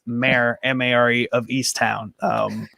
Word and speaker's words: Mare: it was mayor but here's just m-a-r-e so i want to just clear that up for everyone it's mayor mary of east town